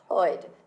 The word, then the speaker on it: Lloyd: um just incidentally viewers my surname is Lloyd but in in Walsh it's pronounced as oid there isn't a Double L it's not Llewellyn oh